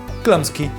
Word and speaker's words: Chlumsky: Chlamsky..chl...nn...s...slumsky Ok, one interesting thing about this girl is, that her problem is that nobody can pronounce her last name which is as simple as Chlumsky. Like that.